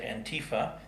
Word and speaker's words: Antifa: Anarchists and communists and Antifa, or some people pronounce it Antifa, the self-styled anti-fascist group